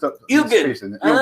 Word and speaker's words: Elgin: Just Ilgin. Like Ilgin and crispy with chips.